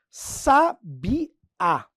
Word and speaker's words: sabiá: Por exemplo, aqui, ó, se eu pegar a palavra sabiá. Ó, palavra sabiá. Ela é acentuada e o acento vai indicar que a tônica é a última.